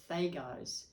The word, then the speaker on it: Dagaz: Well, it's interesting because it says pronunciation Thagaz, Thagaz, and it's with a D, Dagaz, but I guess you don't pronounce the D.